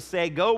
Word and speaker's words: sago: with sega's all over it's not a sega plant it is a sago plant okay so i learned